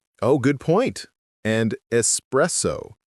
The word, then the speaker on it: espresso: And espresso, not espresso. There's no X in it.